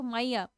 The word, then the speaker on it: माया: हिंदी में कहे तो माया, इंग्लिश में आप प्रोनाउंसिएट करेंगे तो माइया।